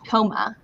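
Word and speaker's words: Houma: Huma, is that correct? Homa.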